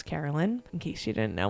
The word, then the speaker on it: Carolyn: I always get mad because my name is 3 syllables, Carolyn, in case you didn't know what my name was.